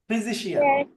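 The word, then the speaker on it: physician: ফিজিশিয়ান। এই পিএইচ এর উচ্চারণ এফ এর মতো, ওকে? এফ এর মতো। ফিজিশিয়ান। তিনটা সিলাবল এখানে।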